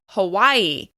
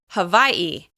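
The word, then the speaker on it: Hawaiʻi: You may hear people say Hawaii, and you may also hear native Hawaiians say Hawaii. You'll hear a glottal stop before the last syllable of this word, but it is stressed on the second syllable.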